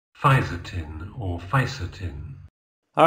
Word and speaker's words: fisetin: Fisden. Fisden. Okay. Two syllables instead of three.